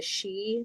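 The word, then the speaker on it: Sídhe: So for example um the uh I believe the Irish and Scottish they're called the she that's spelled sdhe um and they're considered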